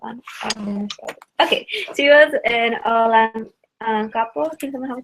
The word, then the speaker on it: Olongapo: Okay, she was an Olongapo. Can someone help me pronounce that right? Olongapo, thank you.